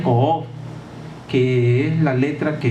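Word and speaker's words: קוף: Ese es el título que se le confiere, y está influenciado por una letra que se pronuncia Ko'of, que es la letra que está relacionado íntimamente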